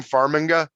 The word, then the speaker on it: Farmiga: Farmiga.